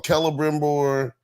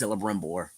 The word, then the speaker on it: Celebrimbor: Well, somebody's in the show they call him Celebrimbor, but it's so they pronounce it with a K. It's spelled with a C. Yeah, it's making it confusing. It's so weird because like in the game they pronounce it with an S, Celebrimbor.